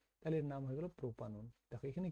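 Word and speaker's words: propanone: থাকলে এটা ওন দিয়ে শেষ হয় নট ওয়ান উচ্চারণটা অন দিয়েই করবো আমরা এখানে ওনটা তাহলে এর নাম হয়ে গেল প্রোপানন দেখো এখানে কি হলো দেখো সেটা হচ্ছে যে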